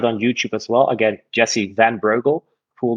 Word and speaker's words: Jessie van Breugel: So my full name is Jessie van Breugel. In Dutch, it's Jessie van Breugel, but I think that's pretty hard for your audience to remember or even pronounce.